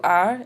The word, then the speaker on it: est: Remember, il is for he, and elle is for she, and that's pronounced a, even though it's spelled est.